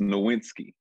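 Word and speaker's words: Nowitzki: next to him next with it it's it's pronounced nowinski nowinski okay yeah so you really gotta just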